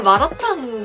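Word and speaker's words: 麻辣烫: 그리고 마라탕 그 승수가 마라탕 하는 거 아세요 마라탕 탕 성조가 아마 성일 거예요 그래서 마라탕이라고 읽는게 맞을 겁니다 중국과 다닌다고 하면 가장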